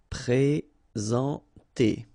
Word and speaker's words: présenter: Okay, remember when we get this accent aigu like that on the top of sorry, then you should pronounce it e. All right, and then you combine the two n nasal en. Présenter. Okay.